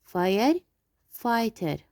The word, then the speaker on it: firefighter: firefighter. We will not pronounce G and H.